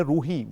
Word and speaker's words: ruah: کی اصل لائف ہے، جس کے سپیلنگ ہوتے ہیں RUAH، یعنی اس کو عبرانی زبان میں روحی پروناؤنس کرتے ہیں.